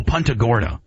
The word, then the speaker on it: Punta Gorda: it's not uh it's not a Gorda oh Punta Gorda is that how you pronounce it yeah absolutely that was actually the